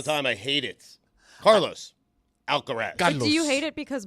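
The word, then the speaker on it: Alcaraz: Oh, Carlos Alcarez. Alcaras. Nah. See, I don't like that. Mike does that all the time. I hate it. Carlos Alcarez.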